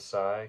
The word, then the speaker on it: Psi: The Priests of Psi. I think it's a silent P there.